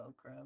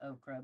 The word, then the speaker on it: ochre: 65, which is the ochre, which isn't really oak. I don't think it's pronounced okra, but you guys know what I mean.